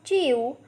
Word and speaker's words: jiu: The next Pinyin is Jiu, has a pronunciation of Chiu.